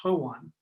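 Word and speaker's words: hooghan: hook on now Hogan and our language is pronounced ho one and it has dirt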